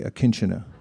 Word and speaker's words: akinchana: the teachings of bhakti called akinchana everyone say akinchana kinchena and akinjuna so we just said akinchana